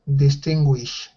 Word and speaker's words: distinguish: the chat with window look at the IPA transcription uh distinguish perfect okay okay perfect so there's a little W to remind you that gu sounds like gu that's exactly right distinguish